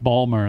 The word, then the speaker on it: Baltimore: Balmer, that's how they say it. Yeah. Baltimore.